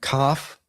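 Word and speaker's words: כ: And then we have cough. And uh with the dog len it is a hard k as in king, but without it, it's the ch like in bach like we talked about earlier.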